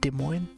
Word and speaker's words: Des Moines: feet washington all right dude des moines there's a french name for in washington d e space m-o-i-n-e-s des moines the way you say that moin the french one that's how you say